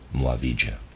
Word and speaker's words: Muavija: uh readers aside muavija is spelled m-u-a-v-i-j-a Mo avija end of readers aside